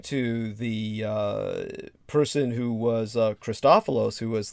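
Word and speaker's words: Christofilos: involved in that so christopholos he worked on fashioning magnetic bottles and just think about his name christopholos it's spelled like christ c-h-r-i-s-t and then an o-f-i-l-o-s christophelos and these magnetic bottles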